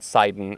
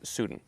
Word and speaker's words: Sudin: Sudin River, and it's it's just the Sudin River, not not Siden or or Sedan. It's it's Sudin.